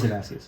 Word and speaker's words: Damascus: Yeah, I don't know how it's pronounced. It is Damascus.